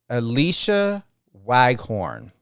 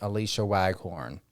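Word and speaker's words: Alysha Waghorn: hope I pronunciate this correctly that is by Alicia waghorn and that's spelled a l y s h a last name w a g h o r n Alicia waghorn that's my opening thought and suggestion and love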